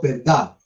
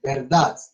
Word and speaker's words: verdad: O sea, yo digo verdad. Ahí pronuncié la última consonante. Ah, no. No, no lo mencionó. Nada. Ahí no. Y ahora, verdad. Ahí sí. Sí, sí. Suena como una cosita así. Eso es una forma de pronunciar la D de la palabra verdad.